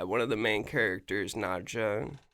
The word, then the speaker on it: Nadja: One of the main characters, Nadja, it's like Nadia spelled with a J.